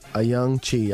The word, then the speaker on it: Ayoung-Chee: uh say your last name again AI a young Chi all right that's it I got it um